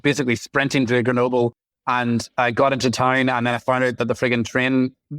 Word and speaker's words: Grenoble: I can't pronounce Grenoble. French. Yeah. Grenoble. Yeah, I don't do the R's right, so I'm not saying it right either.